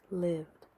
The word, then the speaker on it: lived: They are pronounced with the d sound. Lived, traveled, called, loved.